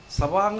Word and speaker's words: savant: പക്ഷേ അതിൽ 10% ഓട്ടിസ്റ്റിക് സവാങ്സ് ആണ്. സവാങ് എന്നുള്ളതിൻ്റെ സ്പെല്ലിങ് SAVANT എന്നാണെങ്കിൽ ഉച്ചാരണം സവാങ് എന്നാണ്.